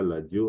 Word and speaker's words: ladio: Ensuite, en lingala, la lettre R se prononce L. Radio, on dira ladio.